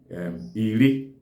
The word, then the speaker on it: iri: So when 10 stands alone, it's pronounced as Iri.